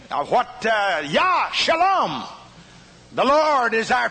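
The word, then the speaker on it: יה: dots one over the other and it is pronounced yah and when they pronounced the word they would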